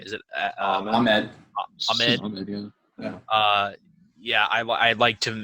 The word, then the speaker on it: Ahmed: How do you pronounce his last name? Is it Ahmed? Ahmed, yeah.